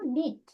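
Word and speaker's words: knit: তারপর কে কে এন আই টি, উচ্চারণ কি হলো? নিট।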